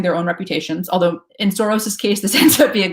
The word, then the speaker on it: Soros: Well, the Hungarian pronunciation is Soros, but I think he now goes by Soros just because he's been in the States for so many years.